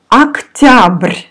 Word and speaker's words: Октябрь: Октябрь. Октябрь. Октябрь. The first О we pronounce like А. Октябрь.